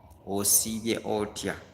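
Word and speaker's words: Osibye otya: It is O-S-I then B-Y-E. Osivye Otia. Good evening. Osivye Otia Nyabo. Osivye Otia Sebo. Are we together? So that is how you say good evening.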